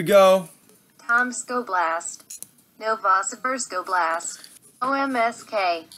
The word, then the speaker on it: Omsk: Tomsk Oblast, Novosibirsk Oblast, OMSK. Oh, so Google doesn't know how to pronounce that one. Omsk. Omsk, that's how Russians pronounce it.